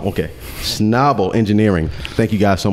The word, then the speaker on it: Schnabel: me with the company name how do you pronounce that schnabel okay schnabel engineering thank you guys so much for joining